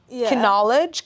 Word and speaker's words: knowledge: like okay in English do you say quinoa knowledge knife no like the K is silent right I don't know